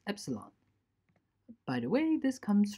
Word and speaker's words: epsilon: epsilon this is pronounced beta and this is pronounced epsilon by the way this comes from the Greek